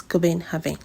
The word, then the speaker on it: Copenhagen: I'm sure you'll have asked yourself, why is this person pronouncing Copenhagen as Copenhagen? Sorry to burst your bubble, but the Danes pronounce their city as Copenhagen. So I have to pronounce it the exact way they pronounce it.